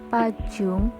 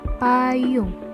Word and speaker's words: pajung: Contoh kedua, pada ejaan PAJUNG bukan dibaca pajung, tapi dibaca payung.